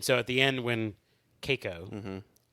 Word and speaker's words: Keiko: Kiko or is it Keiko? It's Keiko. Pretty sure it's Keiko.